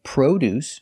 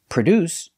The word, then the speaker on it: produce: are two different words sometimes you say produce using the long o produce is another name for fruits and vegetables and produce spelled exactly the same but pronounced differently is the verb to manufacture products produce we cannot say this and